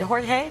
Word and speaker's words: Jorge: Providence, Rhode Island Mayor, is it Jorge?